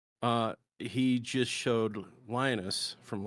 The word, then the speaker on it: Veritasium: Virtuism? I think it's Veritasium. Veritasium. Virtuism. Potassium. Yeah. Veritasium.